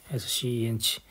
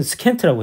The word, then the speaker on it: scent: S-C-E-N-T S-C-E-N-T 향기 맞네. Scent. Scent. 아, 나 이거 인가 해봐야 돼. 뭐냐면 우리는 스켄트라고 했겠죠. 발음은 Scent.